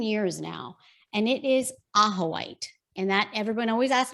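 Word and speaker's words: ajoite: for like 10 years now and it is aha white and that everyone always asks me to spell it it's a-j-o-i-t-e do you have one do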